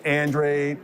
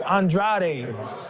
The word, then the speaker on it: Andrade: Capo ver right yeah in my country they pronounce my last name as Andrade and so when they see me Andrade that sounds pretty sexy to me right and in America is pronounced Andre so I get it